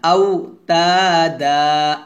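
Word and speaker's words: أَوْتَادًا: ওয়াল জিবালা আওতাদা, তা এক লিপ টান হবে, দা এক লিপ টান হবে।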